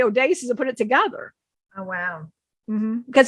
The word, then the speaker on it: Odysseus: it they wanted you to say the name odasis oh you won't so you weren't mispronouncing it they wanted you to always say Odysseus and put it together because that's how he